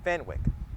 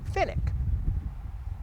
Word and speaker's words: Fenwick: according to their website the name is actually pronounced Finnick your choice however you